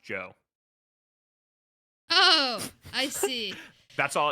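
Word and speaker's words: DJO: Um, the billboard says it's pronounced Joe.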